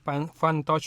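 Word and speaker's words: Funtouch: lihat about phone-nya ini fun touch OS fun touch Ingat jangan pakai ee eh dialek Sunda bacanya Ya F jadi P found tchos 15 mediatch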